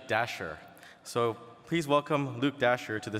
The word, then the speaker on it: Dashjr: so our next speaker I've heard his name pronounced - jr. - here but it's actually Dasher so please welcome Luke